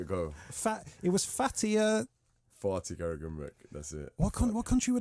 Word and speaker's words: Fatih Karagümrük: Can you pronounce that? Yeah. You know what? Give it a go. It was Fatih. Fatih Karagümrük.